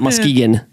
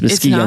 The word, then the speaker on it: Muskegon: I've been corrected. It's not Muskegon. It's Muskegon, not?